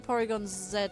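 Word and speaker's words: Porygon-Z: It's Porygon 2 and then Porygon Zed afterwards. Yeah. I don't know why it is. Yeah. Okay. Z is Z is how America says it. Zed is how we say it.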